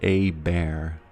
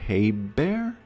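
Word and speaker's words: Habert: The H is silent. Aber. A bear. Abert. So it's a or a bear.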